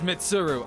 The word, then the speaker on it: Mitsuru: It's Mitsuru. Okay, I absolutely was getting the name wrong.